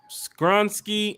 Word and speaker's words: Skoronski: Did I say his name correctly? Is it Skoronski? Yes, Peter Skoronski.